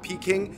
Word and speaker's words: Peking: about Peking duck now why is it called peaking because it's based off the Cantonese pronunciation of Beijing which is